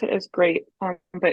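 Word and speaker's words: GLEAT: going to be with this promotion it's called great they pronounce it as great um but it's spelled like gleeve a lot of people call it but it's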